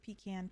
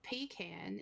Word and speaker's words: pecan: is Al along with pecan pie although some people pronounce it incorrectly no pean is wrong pean pean PE can pie ah button head PE